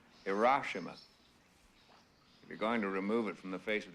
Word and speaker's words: Hiroshima: president would like to see you sir it's pronounced hiroshima if you're going to remove it from the